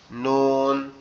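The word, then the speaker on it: نون: নোক্তা এটাকে কি বলা হয় এটাকে বলা হয় নুন নুন নুন নুন নুনটা সিম্পল শুধু উপরে তালের সঙ্গে লাগবে লেগে উচ্চারিত হবে নুন নুন নুন নুনটা মূলত উচ্চারণ হবে কিভাবে?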